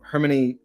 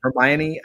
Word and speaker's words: Hermione: Met Your Mother would be Charisma and um hermani I can never pronounce Paramount what how do you pronounce it Hermione I can't pronounce it I'm not a big